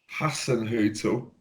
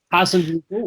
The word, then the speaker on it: Hasenhüttl: Oh God, who wants to take a stab at pronouncing this name? The Southampton manager, Hasenhüttl. Thank you very much. So he goes up against Hasenhüttl, which is the most German name to ever be German.